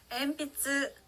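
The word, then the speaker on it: 鉛筆: 엔피츠, 연필이라고 하는 단어가 있습니다.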